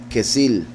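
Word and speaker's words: כסיל: Osa y el orión orión sería en hebreo kesil del hebreo que sil que viene de la palabra hebrea pronunciada igual que significa estúpido tonto simple o arrogante entonces vean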